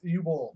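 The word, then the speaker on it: Uwe Boll: Before we get back into the video game, Uwe Ball, Uwe Ball, It's U-Boll.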